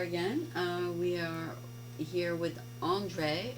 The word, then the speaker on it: Andrej: We are here with Andre. Do we pronounce the J? No, it's just Andre.